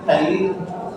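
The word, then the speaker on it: phthalein: अंग्रेजी में देखो तो अंग्रेजी में थैलीन, जो लोग हिंदी से अंग्रेजी सीखे हैं उनका तो यहाँ से स्टार्ट होगा। लेकिन देखो अगर इसका अंग्रेजी तो इसमें पीएच है, पीएच साइलेंट है।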